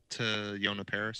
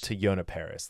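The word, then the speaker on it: Teyonah Parris: to some how do you say her name to yonah paris to yonah paris thank you um i thought she was she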